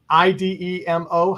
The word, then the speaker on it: Idemo: IDEMO. How do we pronounce that?